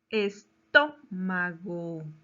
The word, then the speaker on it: estómago: Estómago. ¿Dónde lleva la mayor fuerza de voz? En la última, penúltima, antepenúltima o antes de la antepenúltima sílaba.